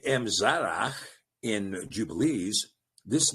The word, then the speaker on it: Emzara: Now, in the book of Jasher, we see the name Emzara given. And I believe that this is a pronunciation transliteration, Imzara.